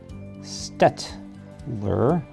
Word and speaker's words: Staedtler: Again, the name of the company, it's spelled Staedtler. It's pronounced Staedtler.